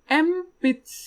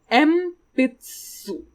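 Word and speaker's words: えんぴつ: we have a long pencil pencil is called empaths so you might be wondering it's written en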